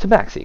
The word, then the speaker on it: tabaxi: It's pronounced tabaxi, correct?